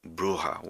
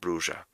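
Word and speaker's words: Brujah: a bruja I see spent 10 years believing bruha was the right way to say it and just recently I saw on the source material that it's meant to be said bruja and it's been hard to adapt to saying it right that one with the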